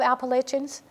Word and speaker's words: Appalachian: I love Appalachians. I have to learn to say it correctly because I never said it right. It's Appalachian.